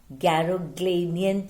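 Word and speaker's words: Garoghlanian: Children, pronounce the word correctly. It's very important. Garogleinian tribe.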